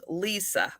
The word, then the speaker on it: Lissa: Oh, it's Lissa, but pronounced Lisa.